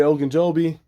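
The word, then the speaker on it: Ogunjobi: overall he's been playing um pretty good Larry Oak and Joby I finally said it right the first time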